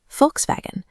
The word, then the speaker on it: Volkswagen: We call it a Volkswagen, but in German, that V at the beginning is an F and the W is a V. Volkswagen.